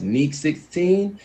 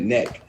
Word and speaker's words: Neek16: You can find me as Neek16. It's like you're about to say, but you take the O out and put a 16 right there.